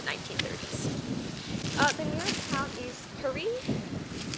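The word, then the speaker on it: Currie: The nearest town is Curry. Maybe it's pronounced Curie, but I'm inclined to say Curry simply because Curie I think only has one R.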